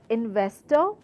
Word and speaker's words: investor: Then the word investor, it is a 3 syllable word, and very clear we have to stress on VES, which is VES, investor.